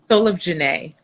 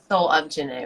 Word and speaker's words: Soul of Gene: haven't followed yet you should janae said again soul of janae soul of janae right sorry i'm like thinking how i read